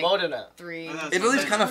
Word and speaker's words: Modena: Yeah, Italy is Modena. Like that, dude. Modena. Modena's wrong. It's always Modena. Like there's one or two like it's really good shows, yeah. And then see, you play in like Modena.